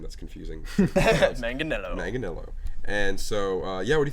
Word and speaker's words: Manganiello: John Manganiello. No. Manganiello. Manganiello.